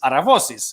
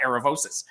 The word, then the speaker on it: Aravosis: my name in greek the correct name to say my name is is aravosis it's not eravosis but i say so